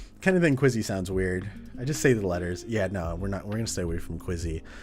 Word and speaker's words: KWZ: Like, every time I go out to get some ice cream, pronounce KWZ like Quizzy.